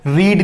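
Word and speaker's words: read: क्या कल आपने न्यूज़पेपर पढ़ा था, डिड यू रीड newspaper yesterday, रीड newspaper yesterday. पढ़ा था, आई रेड न्यूज़पेपर। देखिए फ्रेंड्स रीड की सेकंड फॉर्म होती है रेड, स्पेलिंग तीनों सेम होती है, रीड, रीड, रीड, लेकिन प्रोनाउंसिएशन चेंज होता है, रीड, रेड, रेड।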